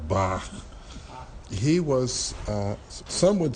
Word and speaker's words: Bach: name I'm you I'm kind of pronouncing a German style Bach he was some would